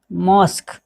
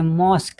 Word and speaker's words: mosque: शब्द के अंत में आने वाले क्यू यू का उच्चारण क्या होता है, क होता है, यानी कि क होता है।